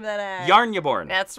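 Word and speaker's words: Jarnbjorn: which is the axe Jason how do you pronounce the name of the yarn you born that's right I'm and he falls right there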